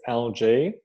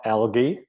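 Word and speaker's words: ALGEE: algae action plan and that's how you say it algae for all of you who've done the program you'll you'll have gotten this drilled into you it's algae not algae like you know the scum on the top of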